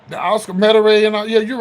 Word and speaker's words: Metairie: The Oscar Metairie and all, yeah, you're right.